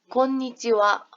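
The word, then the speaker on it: こんにちは: 글씨는 분명히 하인데 선생님 발음은 지금 어떻게 했다? 곤니찌와 와라고 발음을 했습니다. 자, 여러분 여기 하에 동그라미 치시고요. 하에 동그라미 치시고 인사말에서 끝에 존재하는 하는요. 와로 발음을 해요. 다시 한번 말씀드릴게요. 인사말에서 존재하는 이 끝에 있는 하는 와로 발음을 합니다.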